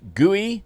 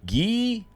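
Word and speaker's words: Guéhi: We've bought in Mark Guey. I'm so sorry. Everybody always tells me how to say his name. Gee, Mark G.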